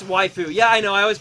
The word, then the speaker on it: waifu: going to pronounce it wayu now just to just to bug you guys but um but I do know it it's actually pronounced like wife basically with a with a foo on the end it's like yeah but